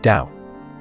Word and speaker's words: Dao: heresy or simply incomplete portions of the great Dao the Chinese word Dao pronounced Dao means the way the path in the common